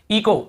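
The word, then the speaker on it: echo: इको, इको, यहाँ पर भी एच, ईचो नहीं पढ़ेंगे, सी एच को चा पढ़ते हैं, ईचो नहीं, इको ही पढ़ेंगे, क्योंकि रूल यही बोल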